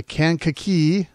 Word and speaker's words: Kankakee: it was in the daily journal from the Kankakee Valley Illinois a newspaper boy I hope I